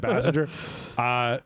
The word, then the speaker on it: Basinger: How do you say Basinger? Bassinger.